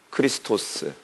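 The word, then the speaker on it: Χριστός: 더 정확한은 마샤크라고 하는 어 발음이를 하는데 마시아흐이 메시아의 헬라식 발음이 뭐예요? 그리스도죠. 그리스도 그리스도. 크리스토스.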